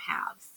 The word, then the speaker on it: halves: So, and the spelling, because when we say halves, we don't hear that silent letter there. When we write it, we can think to ourselves, halves, right? And that's not how we say it. But when we write the word halves, it has like that silent L in there, halves.